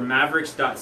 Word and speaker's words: Maveriqs: on YouTube check us out on YouTube for Mavericks ego and it's spelled ma vie er IQs but at the